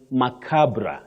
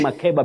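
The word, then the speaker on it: macabre: That is macabra. You say macabra. You might have heard some people saying yes, ma. Innocently saying MBA because sometimes what we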